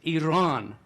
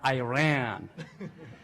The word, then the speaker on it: Iran: the past 35 years I'm glad you pronounce the name of the country correctly is Iran and not Iran so a lot of